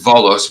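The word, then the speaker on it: Βόλος: I know the V's look like B's, like Volos. I went to Volos, but when you see that written on the map, it's pronounced Volos with a V, but on the map it's got a B. Yeah. Their B's, it looks like a B to us, but their B's must be a V.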